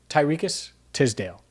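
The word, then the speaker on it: Tariqious Tisdale: go to the trenches tyriques tisdale and that's exactly how you say his name for those wondering even though it doesn't look like it the ole miss product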